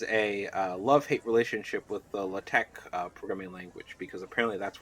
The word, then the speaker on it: LaTeX: my love-hate relationship with LaTeX and building out this. You mean it's not pronounced latex? I wish it was pronounced latex, but no, it's just pronounced LaTeX, and people get really nerdy about it.